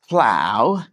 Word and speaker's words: plow: plow rhymes with cow plow rhymes with cow plow cow plow yeah I feel